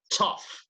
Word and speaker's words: tough: but in this case in this case it sounds like an F against take a Susanna